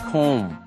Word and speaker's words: comb: 接下来我们来看 comb 梳子，这种梳子是扁平式的，然后一根一根一根这样，通常是男生用的哈。comb 要小心它的发音，中间是长母音 o，接下来的 comb 最后的那个 b 子音是不发音的 comb。动词、名词都是这个字。You